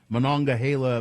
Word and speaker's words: Monongahela: The explosion sent black smoke spiraling into the midday sky in the Monongahela Valley. I know how to pronounce that because I lived in Pennsylvania.